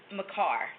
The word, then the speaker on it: Makar: it's the bet we we pronounce it Makar like my you got the door